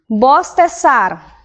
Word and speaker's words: bostezar: Bostezar, lembre que a pronúncia do Z é igual a, dos S, não a do Z ele pronuncia como S.